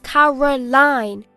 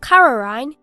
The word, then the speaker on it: Caroline: My name is Caroline, not Caroline. You're saying it wrong.